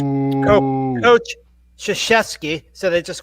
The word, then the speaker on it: Krzyzewski: His nobody knows how to pronounce his. I do, but boo it's boo Coach Krzyzewski, so they just call him Coach K.